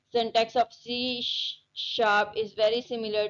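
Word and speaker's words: C#: pronounce है सी sharp is a language developed in 2000 में इसको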